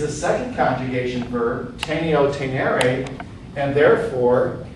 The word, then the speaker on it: tenere: Tenere. Notice it sounds long. When you have a long mark, it takes twice as long to pronounce the vowel.